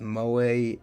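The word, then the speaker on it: 萌え: From what I've come to gather, in Japanese, when the letter echo, that is the military phonetics for E, comes at the end of a, not necessarily even the end, just when it's in a word in general, it makes that sound A.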